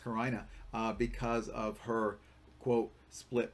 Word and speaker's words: carina: time remembering the word karina or karina it's pronounced karina because of her quote split personality remember that